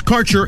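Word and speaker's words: Kaercher: cannabis Insurance Services is spelled k a e r c h e r that's carer insurance we have worked with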